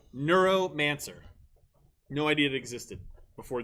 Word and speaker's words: Neuromancer: case our options are a dune b uh neuromancer c the ghost in the shell did i